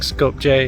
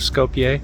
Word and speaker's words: Skopje: a few slips of saying scope j instead of Scopia haven't got used to pronouncing my Js likewise we